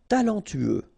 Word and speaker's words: talentueux: Talentueux, final X not pronounced, then you get this E-U together, then T-U, tueux, talentueux, talentueux.